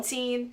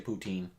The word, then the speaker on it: poutine: Chris Sydock and Ashley will correct you if you say poutine. It is poutine, but Is it actually pronounced Putin? Poutine. yes, because it's French. Because it's français.